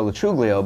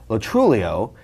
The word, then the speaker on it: Lo Truglio: For the longest time, my name was, and still is, Joe Lo Truglio, but I found out when I was around 20, 21, from my grandfather that the correct pronunciation was Lo Truglio.